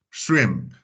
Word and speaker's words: shrimp: So the way we pronounce that word is going to be kind of some similar way, like shrimp, Shrek, shrimp.